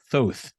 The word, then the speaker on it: Thoth: Once you're able to give us the story of Thoth, if I'm saying that correct, right. I believe I am. That is the correct pronunciation.